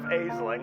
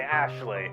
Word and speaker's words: Aisling: in this stupid video instead of shersa i say cher say instead of aisling i say ashley instead of parvana i say parwana so i'm really sorry i'm